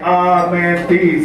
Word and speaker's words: Amenthes: We are Amenthes. That's how you say it. Amenthes.